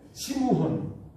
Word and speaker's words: 시므온: 예수님께서 시몬 베드로, 이 시몬이라고 이렇게 발음하는 것은 이건 헬라식 발음입니다. 헬라식 발음. 의미도 달라요. 헬라식으로서 시몬은 이 돌부스러기 이런 의미가 있는데 원래는 시므온, 야곱의 세 번째 아들. 시므온, 세 번째 아들. 레위가 세 번째 아들입니다. 이 시므온이 원래 히브리식 발음이지요.